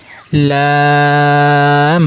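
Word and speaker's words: ل: স্বাভাবিক উচ্চারণ হবে। লাম হরফ, কাপের কোনো নক্তা নেই, লামের কোনো নক্তা নেই, লাম খালি লাম।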